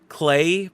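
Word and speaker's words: Klei: Published by I don't know how to pronounce it. Clay Publishing. K L EI. Uh I want to say Clay Publishing.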